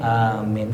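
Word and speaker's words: آمين: as yang paling masyhur adalah membacanya Amin bilmaddi Wat takfif dengan memanjangkan Amin tuh ya takfif di sini enggak pakai tasdid ya amin Jadi kalau paling paling bagus ya wadin amin Panjang a-nya panjang minnya panjang ya wasaniatu yang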